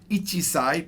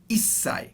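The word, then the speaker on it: 一歳: sai means years old you could say right ichi-sai but it would be wrong because what japanese do is they've shortened it to isai two years old nissai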